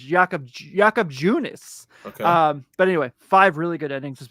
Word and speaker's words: Junis: say I thought it was yakob yakob yakob yunice but uh five really solid endings was really